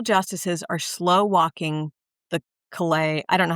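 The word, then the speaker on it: Calais: are slow walking the collay I don't know how to say the word the collay I don't know if I'm right. collay I think collay because of collay France so collay Okay, great.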